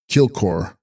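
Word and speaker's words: དཀྱིལ་འཁོར: Text: Jil Kaur, pronounced Kilkor, Sanskrit mandala, i.e.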